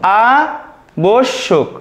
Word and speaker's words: আবশ্যক: তাহলে আমাদের সঠিক উত্তর হয়ে যাবে দেখো আ বোস শোক, দেখো আ বোস শোক। এখন আমরা দেখব ব্যতীত এর সঠিক উচ্চারণ। দেখো এটা তোমরা মনে রাখবে